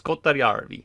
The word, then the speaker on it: Kotajärvi: Kotajärvi. Yeah, it's Kotajärvi. I gotta say it like that.